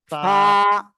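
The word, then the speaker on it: فاء: অক্ষরটা কি অক্ষর পা ফা পা ফা নিচের ঠোঁটের পেট সামনের উপরের দুই দাঁতের আগার সঙ্গে লাগিয়ে হালকা বাতাস বের করে এক আলিফ টেনে আমরা এই অক্ষরটি উচ্চারণ করব ফা সবাই একসাথে বলেন সবাই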